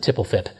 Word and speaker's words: .tpl.php: All of that is defined in the .tpl.php file, or some people pronounce it tipplefip.